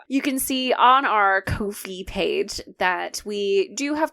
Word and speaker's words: Ko-fi: You can donate or subscribe through our new Ko-fi, where you can buy us a coffee.